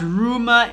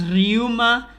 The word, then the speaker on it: Ryuma: to be going and it's not rumor it's ryuma i know i'm kind